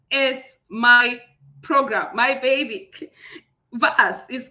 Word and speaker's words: VAS: VAS is called the VA Simulation Program. The P is silent. That's why I'm calling it VAS.